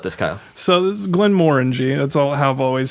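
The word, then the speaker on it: Glenmorangie: tell us about this kyle so this is glenn moringe that's all have always said it and i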